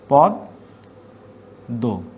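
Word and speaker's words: পদ্ম: তাহলে এই একটা দ দুইটা দ হবে, পদ দো, উচ্চারণটা হবে এটা পদ দো।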